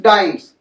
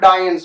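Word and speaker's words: dyne: डायंस नहीं समझ लेना बेटा, the correct pronunciation is डाइम्स नॉट डायंस. वो हिंदी वाला डायन नहीं है.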